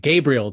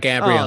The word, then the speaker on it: Gabriel: busted in the chat gabriel davis not gabrielle that's fine makes sense